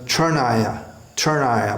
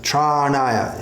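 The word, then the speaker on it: चरणाय: Then commonly, this is pronounced churnaya, but charnaya.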